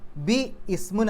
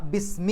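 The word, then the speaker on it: بِسْم: ഇസ്മുൻ എന്നുള്ള പദം ചേർന്നു അപ്പൊ ബി ഇസ്മുൻ എന്നല്ല ബിസ്മി എന്നാണ് പറയുക ബിസ്മി ഇസ്മുൻ എന്ന് പറഞ്ഞാൽ പേര് നാമം അപ്പൊ ബിസ്മി പേര് കൊണ്ട് നാമം കൊണ്ട്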